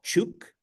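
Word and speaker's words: Chuuk: distance from truck Lagoon which is now called chuk which is the appropriate uh pronunciation and both of those are states in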